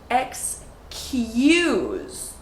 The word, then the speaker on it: excuse: So pay special attention to the Y sound that gets added even though there is no Y in the word excuse. So listen, excuse. Do you hear the Y?